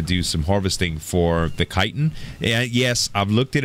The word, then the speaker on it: chitin: I know a few of you said in the comments that it's not chitin, Z, it's chitin. That's one of those weird words that the CH is actually pronounced like, well, silly old English.